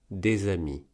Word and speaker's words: des amis: Par exemple, dans des amis, on ne prononce pas le S de des quand il est pris tout seul, le S est donc